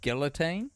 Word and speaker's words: guillotine: guillotine in my life I'm a big fan of guillotine as a pronunciation that's how we were taught as um kiwis but probably the correct way is Guillotine right cuz it's the is that the French the French word I still think it's